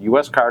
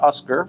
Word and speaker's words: USCAR: of people don't know the name us car and is pronounced us car not Oscar that's and it stands